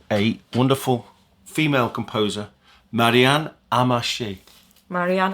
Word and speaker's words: Amacher: think the background is I think she maybe Belgian family background so it's a French pronunciation amashi it's a really